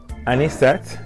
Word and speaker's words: Anisette: it's lime juice Jin an set am I say it right any any set yes and so lime juice any